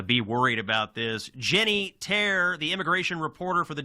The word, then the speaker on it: Taer: Jenny Tear, the immigration reporter for the Daily Wire, find her on X at Jenny.